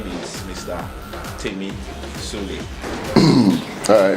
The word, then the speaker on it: Tsoule: A lot of people tend to use different, because of the way the name is spelled, Tsoule, the T is silent, you know, and who is Temmie Tsoule in the 2018?